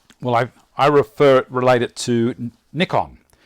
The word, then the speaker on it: Nikon: In Australia, we call it Nikon because that's how the Japanese pronounce it. In the States, they say Nikon because only one K following. If there was two Ks, it'd be Nikon for them. But we understand that the Japanese say N-I. They can't pronounce I.